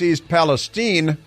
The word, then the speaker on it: East Palestine: they need you to pronounce the name of the town properly it's East Palestine see Joe Biden may